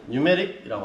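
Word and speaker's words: pneumatic: 이게 PNEUMIATIC 이렇게 써니까 뭐라 그래? P자를 뺍니다. 여러분 사이코 할 때도 P자가 안 읽어지죠, 그죠? 마찬가지로 묵음으로 그냥 얘는 뉴메릭이라고 합니다. 뉴메릭 시스템이라고 합니다. 됐나요? 사이코 할 때도 P자는 빼고 읽는다고, 그지? 예, 그거와 똑같이 맨 앞에 P자는 묵음으로써 그냥 뉴메릭 시스템이라고 읽으시면 됩니다.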